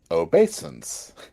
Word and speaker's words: obeisance: And how do you pronounce it? Uh, obeisance.